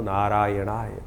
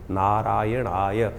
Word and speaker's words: नारायणाय: करने का प्रयास करें मंत्र का उच्चारण बिल्कुल सही होना चाहिए कई बार लोग मंत्र का जप करते करते थोड़ी सी गलती कर देते हैं नारायणाय नारायण नारायण नारायणाय नारायण नाराय नहीं है नारायणाय ओम नमो नारायणाय इस